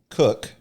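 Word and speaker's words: Koch: I always joke that uh we were good enough Germans to keep the spelling but not good enough Germans to keep the pronunciation.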